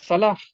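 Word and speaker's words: صلاة: ஏன்னா தமிழ்ல ஹா கிடையாது. ஆனா காக்கு எனது தமிழாசிரியர் சொல்லிக் கொடுத்தது 3 வகையான உச்சரிப்பு இருக்குன்னு சொன்னாங்க. அழுத்தி சொல்லக்கூடிய கா, கொஞ்சம் லேசா சொல்லக்கூடிய கா, தமிழ்ல ஹா இல்லாததுனால கா தான் தமிழுக்கு ஹா. ஆனா தொழுகைன்னு சொன்னாலும் அது சரியா பார்க்கும் பொழுது அது சொலாஹ் தான்.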